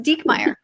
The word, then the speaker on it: Diekmeyer: my last name and you spelled it right and it's pronounced dekmeyer yeah thanks katie how